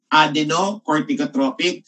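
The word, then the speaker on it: adrenocorticotropic: Adenocorticotropic stimulating hormone. Okay, everybody, pronounce the word to me. Okay, adenocort. Good. Everybody, emphasize cort. Cort, emphasize cort. Cort, cort is for cortex.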